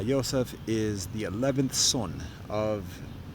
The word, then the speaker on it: Yosef: is or Joseph uh the Hebrew articulation and pronunciation of his name uh Yosef is the eleventh son